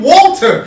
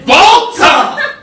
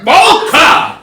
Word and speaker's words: WALTER: table calling him fucking Walter. His name is not Walter. His name is Volta. Volta. With a V. It's with the W, but you have to pronounce it like you're from Austria.